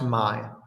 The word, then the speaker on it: May: It's pronounced M-A-Y here. It's pronounced Mai.